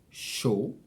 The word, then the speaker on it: chaud: So AU is O, and of course, EAU is the same thing. So both of them are pronounced O. Par exemple, chaud or beaucoup.